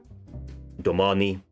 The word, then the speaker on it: domani: we should have something domani here long r stress on the second syllable this is the standard